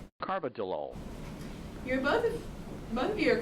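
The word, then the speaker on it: carvedilol: Cargilol. Actually, it's pronounced Carbidolol.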